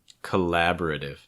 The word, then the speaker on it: collaborative: What you're seeing here is that first syllable getting reduced. Compare that to the original. Collaborative. Notice the difference with mine is that first syllable will be reduced. It's more of a k. This is because the stress comes in a later syllable. So what happens often in English is that if a syllable is not stressed, it will become reduced.